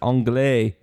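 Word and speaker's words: anglais: an answer Mike says angay ke says angay phonetically gross that is correct it is angay a n g l a i s oh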